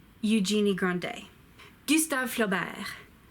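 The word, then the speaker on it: Eugénie Grandet: a genie Gandhi II J me go D Eugenie grande do you start feel better you staff flow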